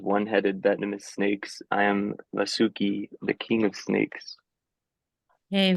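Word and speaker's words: वासुकिः: It creates like an echo effect. So it'd be sagaraha. You add that the letter that precedes it, you pronounce it again afterwards. And then also like that vasuki, vasukihi. That's called visarga, Jayadev, I think.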